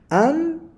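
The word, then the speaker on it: ἄνθρωπος: Cuando aparece en la antepenúltima sílaba, se llama proparoxítonas. Anthropos. Anthropos, de donde viene nuestro término hombre, ¿no?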